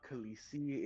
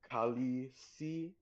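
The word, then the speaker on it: calici: Uh Alistair, it's called that because it's not Khalesi. It's uh Kali or C A L I C I. Um it's just spelled that for some reason.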